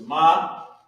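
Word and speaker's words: מה: So you got Ma, which is M, which would be in English M-A-H, but in Hebrew is Ma, and then there's Ha, connected. And it's pronounced Ma, and it equals how or what.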